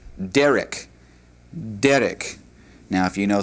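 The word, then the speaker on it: דרך: The word way is a feminine word and is pronounced derek.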